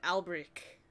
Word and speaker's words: Alberich: pronounced. Albric.